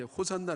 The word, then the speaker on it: 호산나: 호 산다는 말 씀 원래 이게 히브리 말인데요 호시 않아 라고 하는 말인데 이게 이제 호산나 라고 이제 발전하는 것으로 이 발음하는 것으로 발전이 되는 것이었죠 사람들이 입으론 호산 날